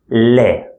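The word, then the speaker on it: ل: The next one looks like this, and we pronounce it Le, L sound.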